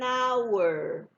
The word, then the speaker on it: hour: An orange, an apple, an idea, an ugly cat, an engineer, an hour. Vejam que na palavra hour, o H é mudo.